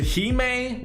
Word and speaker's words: Hime: Moving on to my number 10 spot, I had to give it to Hime, which is how you pronounce it, I promise, and the Dark Wings.